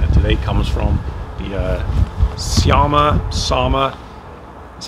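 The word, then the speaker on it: Särmä: The Sama, that's how it's pronounced, TST line.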